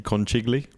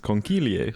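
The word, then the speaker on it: conchiglie: the hell is that you'd probably look at it and see kigi but I Googled the pronunciation and it's conil how am I spelling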